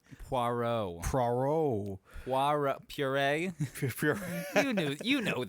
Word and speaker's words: Poirot: It is Poirot. Poirot. Poirot. Poirot. Like PWAROW. I'm gonna write like it, that. I'm gonna write it on my Murder on the Notes Express. Poirot.